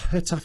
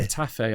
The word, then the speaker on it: Getafe: Getafe, it's like a sort of a... Is that, you don't say a G, do you? No, because the way I... It's more of a J and a...